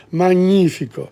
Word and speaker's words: magnifico: Cappuccino, Colosseo, cucchiaio, noce, cinema, gnocchi, bicicletta, televisione, coccodrillo, magnifico, GN, new sound, magnifico, dischi, not disci, dischi,